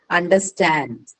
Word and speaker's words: understand: Okay, all of this is going to take the stress on the second one, which is in understand, it is going to be on stand. In overflow, it is going to be on flow, right?